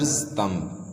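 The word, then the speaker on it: thumb: been under हिस mother तम फॉर फ years ही जज been he has been under he has been under हिज mother हिज mothers तम तम इधर बी जो है यह साइलेंट है याद रखिए तम फॉर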